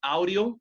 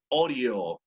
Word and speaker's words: audio: So, not audio, but audio.